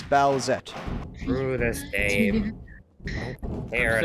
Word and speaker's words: Bowsette: Bowsette. That's two syllables. I fucking hate it. I'm miserable. That's two syllables, Alex. Bowsette.